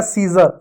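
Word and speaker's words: scissor: ठीक है, अब देखो इसको क्या पढ़ेंगे, एस सी आई डब्ल्यू एस ओ आर। एस को क्या पढ़ेंगे, स पढ़ेंगे, सी साइलेंट होगा, आई को क्या छोटी की मात्रा पढ़ेंगे, डबल एस को स पढ़ेंगे, ओ आर को र पढ़ेंगे, हो जाएगा सीजर।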